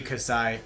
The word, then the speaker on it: Casai: So like do I call Cass? Do you Casai? Thank you Casai.